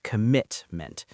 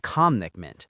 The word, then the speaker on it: commitment: The stress is on the second syllable, commitment, not commitment.